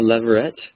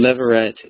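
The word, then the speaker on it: levirate: us the picture and this is called a leveret marriage and leveret is just a word it's it's spelled l e v i r a t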